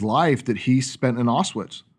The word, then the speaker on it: Auschwitz: years of his life that he spent in Auschwitz. Right. Is that the correct way to pronounce it?